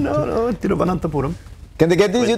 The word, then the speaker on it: Thiruvananthapuram: Thiruvananthapuram, you pronounced it bang on without saying Trivandrum and going with the anglicized version. No, Thiruvananthapuram.